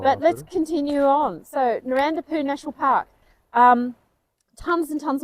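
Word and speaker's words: Narawntapu: Now, is it Narandapoo or Narrawantapoo? Well, it's spelt Narrawantapoo, but the locals corrected our pronunciation and said it's Narandapoo.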